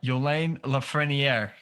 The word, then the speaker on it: Yolin Lafrenière: with us today uh our good buddy uh yolane lafreniere you did a great job that's perfect you